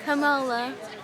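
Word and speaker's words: Kamala: Camola.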